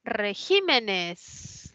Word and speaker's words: regímenes: Luego está la palabra regímenes, ¿no? Que tiene la mayor fuerza de voz en la I, es esdrújula, colocó tilde.